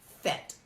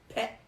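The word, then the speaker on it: phet: You may write that, P-H-E-T. But it's not fet. It's pet. When you get stuck in a nyam, at that time, you can strike it with the seed syllable pet, hard.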